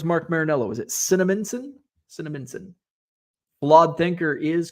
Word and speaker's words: Cinnaminson: How do you pronounce the city he was from? Cinnaminson, New Jersey. Where's Mark Marinello? Is it Cinnaminson? Cinnaminson.